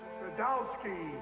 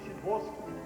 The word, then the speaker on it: Sadowski: Sadowski, Shaboski. A chance. Pronounced Shaboski.